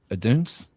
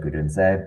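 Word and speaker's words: Odunze: Oduns? I think you the pronounce goalkeeper. the E, so I think it would be like Udunse, but close enough.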